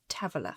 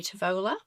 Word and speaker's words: Tavola: So it's Tavola. It is beautifully pronounced. Thank you. I've been practicing. Beautifully. The Aussie in me, so I had spent a lot of years in Australia, wants to say Tavola.